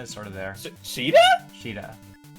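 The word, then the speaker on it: Shiida: Sheeta. That's how it's pronounced. Really? Yeah. I mean, that's how it's like right Huh. now in like the katakana and everything.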